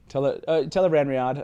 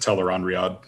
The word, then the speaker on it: Tel'aran'rhiod: instead of ron sure tell her van riad as yeah i think that's acceptable that's uh i've always just said tell her on riad tell ron riyad yeah yeah that's those